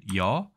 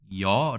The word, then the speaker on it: 舁: 이 단어는 " 여 "( 함께 들어올리다 ) 또는 " 거 "( 들어 올리다 ) 로 읽히 지만 , 주로 " 여 " 로 발음 됩니다 .